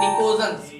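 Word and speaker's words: pnictogens: दूसरा नाम होता है निकोजन्स। क्या होता है? निकोजन्स, निकोजन्स। और मैंने बोला था बेटा इससे पहले पी होता है साइलेंट, स्पेलिंग होती है पी निकोजन्स।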